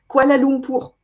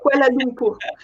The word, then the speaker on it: Kuala Lumpur: Can I just say for the French audience, Kuala Lumpur? Kuala That's how we pronounce it in French, Kuala Lumpur.